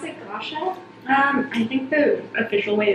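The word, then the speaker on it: gua sha: Yeah, that's what I've heard, and that's how you pronounce it, Gosha. I think the official way is Gwasa.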